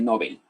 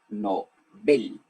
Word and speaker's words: Nobel: él no se dice nobel q ya no se dice nobel se dice no ven estamos igual cuando hablas